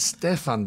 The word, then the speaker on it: Stephan: great to be here and Stefan by the way is how I would say my name in Europe okay well right now